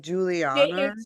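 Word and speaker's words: Giulia: I want to say how it's like you would pronounce it like Julia.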